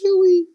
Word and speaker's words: Chuy: Enter Congressman Chewy Garcia, pronounced Chewy as in Chewbacca of Star Wars.